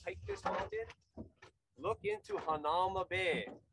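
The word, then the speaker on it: Hanauma: this mountain, look into Hanama Bay. Hanama is also, you can pronounce it Hanahuma, which is arm wrestling, right?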